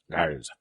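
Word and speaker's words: Graz: So Gars is spelled G-R-A-Z. Gars.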